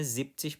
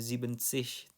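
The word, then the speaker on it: siebzig: Begitu juga untuk 70 jadinya zipsish bukan zibensish tapi zipsish.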